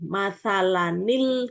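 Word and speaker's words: مَثَلًا: Kalau di Quran Madinah ini enggak ada nun. Tapi di sini ada kepala huruf shad di atasnya alifnya ini. Jadi sudah pasti ketika bertemu hamzah wasal tanwin ini, maka dibacanya ada nun wiqayahnya ini matsalanil gitu.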